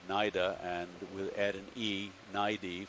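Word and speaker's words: cnida: a 90 with a it's spelled c-n-i-d-a for the singular naida and we'll add an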